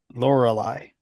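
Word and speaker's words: Lorelei: neeva and UFO 50 laureli is how you say that anal is really cool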